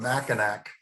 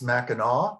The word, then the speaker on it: Mackinac: talking about Mac here it's called Mackinac but it's actually pronounced Mackinaw because the French uh